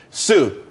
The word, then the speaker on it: TSU: Sue. TSU. It's pronounced Sue, though.